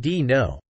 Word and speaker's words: Dino: Because the film at the last minute changed names, Mirage was referred to as Dino, pronounced D-No, while Wheeljack was referred to as K in the film.